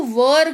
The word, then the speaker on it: were: थे के जगह पर आपको वर का यूज करना है। WERE लिखा हुआ है, लेकिन वेयर नहीं पढ़ते हैं, इसको वर पढ़ते हैं।